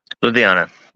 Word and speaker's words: Ludhiana: And I hope I pronounce this right too. But Ludhiana. Ludhiana.